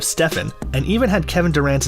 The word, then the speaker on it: Stephen: During a pitch meeting to re-sign Curry, the Nike team mispronounced his name, they called him Stefan instead of Stephen, and even had Kevin Durant's name on one of the PowerPoint slides.